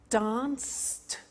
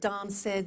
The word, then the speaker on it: danced: look at that watched danced eliminate the e pronounce the T danced laughed washed and walked okay now the temptation is to say watch it Dan said the laughs ed wash